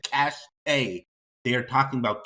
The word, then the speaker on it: cache: guys like it's called cash why are they calling it cachet not only did they say once oh it's a mispronunciation they continued mispronouncing it right so this is how it's pronounced cash i don't care what